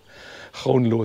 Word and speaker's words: Groenlo: OE, wie wird das richtig ausgesprochen? Der Jakob hat es mir ja beigebracht eigentlich. Groenlo ist, glaube ich, richtig.